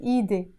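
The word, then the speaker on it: إيدي: we were right easy we will pronounce it Edie Edie my hand edik your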